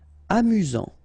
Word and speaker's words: amusant: Amusant. Final T not pronounced.